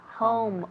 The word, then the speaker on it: home: Recuerda, home. O-U, home.